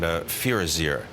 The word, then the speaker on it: Firazyr: Tell me a little bit about the new approval by the FDA on Firazyr. I know did I pronounce it all correctly?